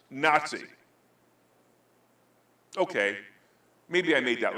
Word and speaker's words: NATSI: It will be appropriately pronounced NATSI.